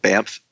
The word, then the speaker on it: Banff: a mountain resort town called Banff VA nff it sounds like I'm saying an M and it's it's a